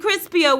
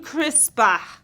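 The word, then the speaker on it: CRISPR: second my heart stopped now we don't mean crispier we mean crisper crisper and the answer is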